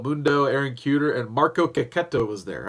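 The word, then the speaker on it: Checchetto: Aaron cooter and Marco Caqueta was there I guess it's actually pronounced kokuto according to CB Cebulski so I guess it's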